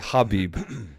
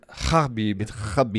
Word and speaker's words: Khabib: and we'll say Habib you literally got a clear throat what you say his name because Habibi is not in our language so you come fast you have to hold up for like I think an eighth of a second I'll be proper way